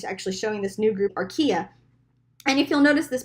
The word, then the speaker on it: archaea: know those there's the bacterial domain there's the archaea it's how you say it archaea domain and